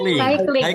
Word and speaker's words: cycling: Cycling. Ya, this one bersepeda adalah cycling. Yes. Jadi C-nya dibaca S ya? Ya, depannya dibaca seperti cycling ya.